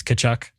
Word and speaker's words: Tkachuk: The T is silent, right? It's Tkachuk. Matthew Tkachuk, yeah.